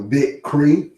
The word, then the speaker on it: Bichri: Oh, Bickery. Bickering. Oh, a 2-syllable Bickery. I thought it said Bickery.